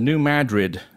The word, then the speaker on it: New Madrid: Earlier, I referred to the earthquake zone in the Midwest as the New Madrid zone. Of course, that's my European background, and you pronounced it correctly, which in fact I did know. I did know how to pronounce it. It just slipped my mind.